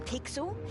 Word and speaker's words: Pixel: not weird guy i'm pixel it's easy to remember because it rhymes with pickle so it does why